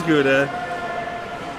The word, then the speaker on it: Gouda: His name is Gouda.